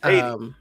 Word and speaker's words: Haiti: and Haiti.